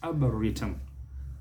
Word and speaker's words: arboretum: So it is arboretum. On our part, we must not bring out that third syllable. In fact, that is where the stress is. It is a. Give it an. It's not a. It is e. Give it an e sound.